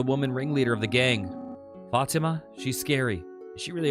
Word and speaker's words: Fatima: Fatima is how it's said in Arabic. Fatima? Often pronounced in English as Fatima.